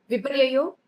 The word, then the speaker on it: विपर्ययो: इसी के अकॉर्डिंग आपको उच्चारण करना है। आप संधि विच्छेद करके इसको पढ़ सकते हैं। फिर से सुन लीजिए। विपर्ययो मिथ्या ज्ञानम अद्रूप प्रतिष्ठित।